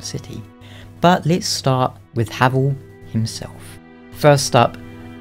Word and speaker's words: Havel: but let's start with havl himself first up I am going to say havl not hav I don't know which is technically the correct pronunciation but I'm just going to stick with havl and when I say